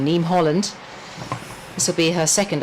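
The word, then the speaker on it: Niamh Holland: That's how you pronounce it, her name. Yeah. The Irish name, Neem Holland.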